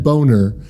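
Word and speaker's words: Boehner: The next one is Ber, but it's spelled B O E H N R. So Eustic and then Boner.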